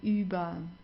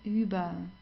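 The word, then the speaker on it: über: count as vowels okay so here you see you have an r at the end right before that you have a vow do you remember what you have to do here just pronounce it like an a uba okay so not u u or anything it's Uber okay good then the next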